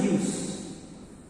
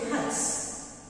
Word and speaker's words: Hughes: This poem was written by Langston Hughes. Langston, H-U-G-H-E-S. H-U-G-H-E-S. Its pronunciation Hughes. H-U-G-H-E-S. Don't say Hus.